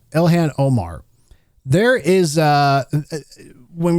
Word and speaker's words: Ilhan: Now, speaking of Elan Omar, I'm going to call her Ilhan. I think that's how you say her name. Elhan Omar.